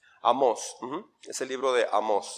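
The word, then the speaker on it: Amós: es el libro de amos lleva acento en la hablo amos habló en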